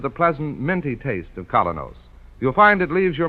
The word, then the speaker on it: Kolynos: Keene is broadcast to you by Colos toothpaste.